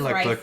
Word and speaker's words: Rife: I've heard different people who don't say Rife or idiots. I don't know. His name is Rife.